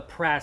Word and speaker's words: PRAS: now this is a would you pronounce this press or profs they they call it the Pratt system the parametric receive audio